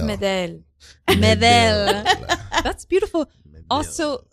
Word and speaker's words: Medel: Is that Medel? Medel. It's Medel. Medel. That's beautiful. Medel. Also, I'm just taking it.